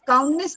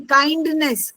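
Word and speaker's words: kindness: काइंडनेस काउंडनेस नहीं काइंडनेस के आई एन डी एन E double S मतलब एस एस काइंडनेस।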